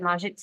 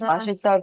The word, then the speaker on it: 맛있다: the Korean restaurant across from Analog, is it Majitsa? Mashita grill. Majitsa? Mhm. Is that how you pronounce it?